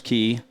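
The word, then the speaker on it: cay: sorry what is that well they call them Keys just because they're little Islands I guess kind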